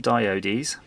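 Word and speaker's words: diodes: diode II it's that that's definitely the correct way of pronouncing them diode ease and you can see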